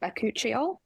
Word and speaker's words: bakuchiol: also have the am I saying it right bakuchiol yes okay and that's the one with similar